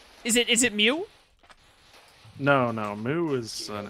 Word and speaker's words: Mew: is it is it Mew no no moo is an M it's not moo it's Mew no it's not it's Mew